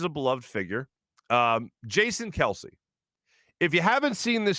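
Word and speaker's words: Kelce: i'm jason kelsey he says his own name kelsey so then i started thinking to myself is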